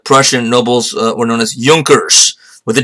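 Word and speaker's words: Junkers: Nobles were known as Yonkers with a J the J is silent in German so Ju NK ers laugh one day she had spelled but it's pronounced Yonkers so he came from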